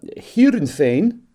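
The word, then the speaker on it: Heerenveen: he was at uh here insane as we would pronounce it in Holland um some of the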